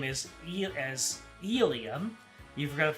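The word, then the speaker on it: Elie: You know they pronounce her first name as Elia. You forgot the pronunciation of her surname.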